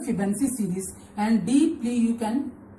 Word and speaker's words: Fibonacci: Fibonacci spelling is Fibonacci. Don't pronounce it Fibonacci.